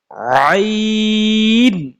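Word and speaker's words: عين: কিছু হরফ ছাড়া লাস্টে দিয়া এরপর আসেন আইন আইন হরফটা হলকের মধ্যখান থেকে উচ্চারিত হয় ইনশাল্লাহ মাখরাজ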